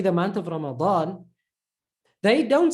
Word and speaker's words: Ramadan: But the correct way is Ramadan, because there's two full letters in that word. Ra, ma is normal. Da is again full. Dawn. Ramadan.